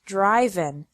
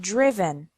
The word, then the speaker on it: driven: risen write wrote written notice that the sound of the I changes from the present to the past participle the present is drive and the past past participle is not driven but driven subgroup three verbs ending